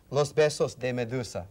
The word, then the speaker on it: Los Besos de Medusa: Her current project, in fact, is a you now got me nervous about pronouncing this, but I'll go ahead and say it. Los Besos de Medusa.